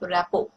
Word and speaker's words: rapport: Then use the person's name at least 3 times to develop rapport. T is silent here.